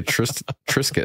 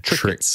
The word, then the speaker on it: Triscuit: And I'm sure they put the S in it so that you pronounce it Tris. Because if you just had a C instead of a, you'd have Triscuits.